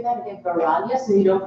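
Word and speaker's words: वैराग्य: Can you say that again, Vairagya, so you don't pronounce that I?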